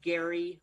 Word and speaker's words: Gerry: His name is Gary High, but Gary is spelled Gerry.